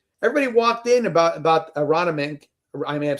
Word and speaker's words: Aronimink: In this case, everybody walked in about about Aronimink I may have said that right. Aronimink is how I how you say it, right? You got it.